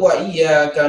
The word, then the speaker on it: وإياك: Syekh Abdul Majid, yaitu wa-nya harus tipis dan tidak boleh tebal. Sebagaimana yang beliau tadi katakan, mana yang tebal, yang tipis. Jadi yang tebal adalah yang salah, yang tipis adalah yang benar.